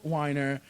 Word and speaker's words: Wiener: His name is spelled Wiener. Weiner. Spelled Wiener. But it's Weiner.